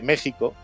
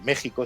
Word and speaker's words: México: se escribe con x Por qué se escribe con x porque en esa época en el siglo X La J que tampoco tenía ese sonido exactamente en español se escribía con x como en Texas Oaxaca o Quijote aquí tenemos